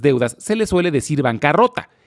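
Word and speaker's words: bancarotta: La palabra viene del italiano, que se pronuncia casi igual al español, se dice bancarrota, aunque curiosamente en español lleva doble R, mientras que en italiano lleva una sola R pero doble T.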